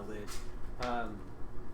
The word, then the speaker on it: lich: turned himself into a, am I pronouncing it like a lich? A lich? L-I-C-H? Lich. Lich. Correct the first time.